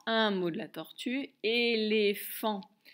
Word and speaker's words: éléphant: Je fais taper trois syllabes, première et, deuxième les, et la dernière, la plus dure, fan. Le son F, P, H comme dans phare, le son en, AN comme dans volant, et le T qui est muet.